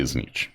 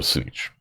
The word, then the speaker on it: Tzeentch: You have Tzeentch, or Znich. You know what? I've heard it pronounced like 18 different ways. I always say Znich or Snitch.